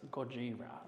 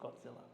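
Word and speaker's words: Gojira: to pronounce it properly it's goira not Godzilla plastic goira adorned with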